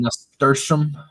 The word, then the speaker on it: nasturtium: Oh, I was even pronouncing it wrong. I thought it was with an L.